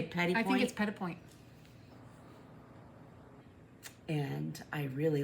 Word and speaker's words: petit point: But you say petit point.